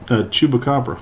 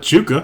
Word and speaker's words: chupacabra: A chupacabra. Chupa? It's not chuka.